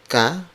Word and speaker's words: ka: You would say it in Filipino, saan ka galing?